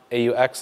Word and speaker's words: aux: Just to kill all of this right now, AUX is pronounced aux, like awkward.